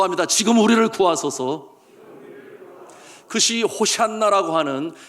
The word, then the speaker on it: 호산나: 여러분이 호산나, 원어의 발음대로 하면 호시안나가 됩니다. 호시안나, 호시안나, 우리를 구원하소서. 그처럼 저들이 환호하며 환영하며 예수 그리스도를 환영하게 되었습니다.